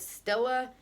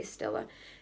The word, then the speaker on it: Stila: by this brand and I don't think I'm pronouncing this right Stella s i l a Stila and this I got